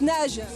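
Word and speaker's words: Naje: Donc Nage. Nage, la marque Nage, oui. Comment ça s'écrit ?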